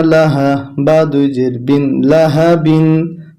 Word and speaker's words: لهب: লাম জবর লাহা জবর হা, লাহা। বা দুই জের বিন, লাহা বিন। যখন আমরা এখানে থেমে যাব তখন উচ্চারণটা হবে লাহাবে।